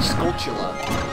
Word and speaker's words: Skulltula: And Bill Trinan called a Skulltula a Skulltula. He's like, was I pronouncing that wrong this entire time? Skulltula? I mean, I guess that would make sense if it's, like, you know, a tarantula.